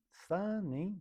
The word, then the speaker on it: 三人: Vamos ver como que é pronunciado. 何人？三人？ Nanin, sanin.